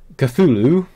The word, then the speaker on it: Cthulhu: Now, I actually had to think, look up how to pronounce this game. Cthulhu.